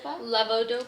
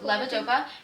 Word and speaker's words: Levodopa: Levodopa. Levodopa.